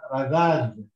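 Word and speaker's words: رذاذ: And you've got here a dal with fatha and alif, which make it radha. And here you've got the dal with which is silent, so I read this as radad.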